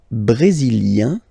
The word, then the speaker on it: brésilien: Le Brésil, brésilien, yin, brésilien, like we had for canadien, brésilien, feminine form, brésilienne, yen, brésilienne.